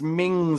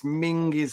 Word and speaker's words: Menzies: I think it's Mings or something, isn't it? He's one of those ones that doesn't pronounce it the normal way. But yeah, it's written Menzies, but it's Mingis or something like that.